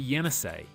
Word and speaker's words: Yenisei: The fifth longest river is the Yenisei, and that sounds a bit like yen I say.